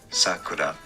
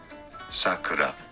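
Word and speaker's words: 桜: But it actually depends, because the pitch accent will differ whether you're using the word to mean cherry blossom or name of a child. If it's a name of a child, it's sakura, so high to low. But if it's the cherry blossoms, is sakura, the opposite, sakura.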